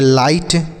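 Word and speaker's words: light: F से फा हो गया, आई से आई लिखेंगे और GST को टा पढ़ना है, GHT को टा पढ़ना है, GS साइलेंट रहेगा, तो इसे हम पढ़ेंगे फाइट।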